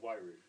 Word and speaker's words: Wairau: I'm not sure how you pronounce that. Well, that's Wairau.